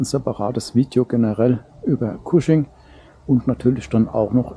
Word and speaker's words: Cushing: und aufgrund des cuschings ich find cusing eigentlich immer komisches Wort weil ich es als casching gelernt habe aber es wird wirklich kusching ausgesprochen ja aufgrund eben der